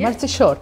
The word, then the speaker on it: Mărțișor: How you pronounce it correctly? Mărțișor.